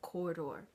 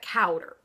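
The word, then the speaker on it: Cawdor: by that most disloyal traitor the Thane of corridor okay now I realize that that name is is spelled c-a-w-d-o-r but we're not going to show our Kentucky here and pronounce that cowder okay it's not cowder it's Corridor doesn't that sound more elegant anyway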